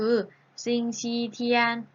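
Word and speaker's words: 星期天: ออก เสียง อีก แบบ นึง ได้ ก็ คือ สิ่ง ที่ เทียน ๆ สิ่ง ชี้ เทียน ๆ เฮ้ย ช้างเฮ้าส์ ค่ะ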